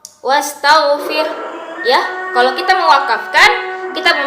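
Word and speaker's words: وَاسْتَغْفِرْ: Sebelum wakafnya maksudnya ustazah rabbika wastaghfir ya. Bukan wastaghfir tapi wastaghfir. Ada hembusan napas yang keluar dari mulut.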